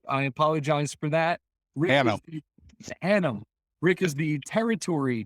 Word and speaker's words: Hannam: Rick, I'm going to get your last name wrong. I apologize for that. Hannam.